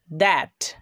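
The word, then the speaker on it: that: দ্যাট এই বানানে টিএইচ এর উচ্চারণ কিন্তু এবার দ হচ্ছে।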